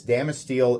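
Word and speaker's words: Damasteel: you're unfamiliar with damel no I'm not mispronouncing Damascus damel is a proprietary powder performance oriented form of Damascus made by the damage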